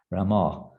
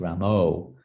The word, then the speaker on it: Rama: pronounce that bengali but rama it's not rambo sometimes they both have no sense of hearing and they think it's ramo it's not rama it's a little different they said it pronounced